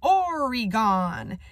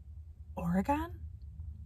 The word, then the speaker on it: Oregon: all the way from origon he says mispronouncing oregon the brown man whispers oregon there are black people